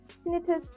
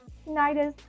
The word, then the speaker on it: tinnitus: important to note that there are different ways to pronounced tenus Tinus tentis and both pronunciations are perfectly acceptable my time as an